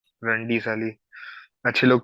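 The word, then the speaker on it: Randy: रंडी ऑटन था। आई मेंट, मैंने रैंडी को रंडी प्रोनाउंस किया।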